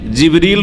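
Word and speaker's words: جبريل: আর তিনি রূহ, তাহলে জিবরাইল আলাইহিস সালামের নাম কোরআনে কারিমে জিবরিল রয়েছে, যেটা অন্য উচ্চারণে জিবরাইল, অন্য কেরাতে জিবরাইলও, জিবরিল, জিবরাইল আর রূহ।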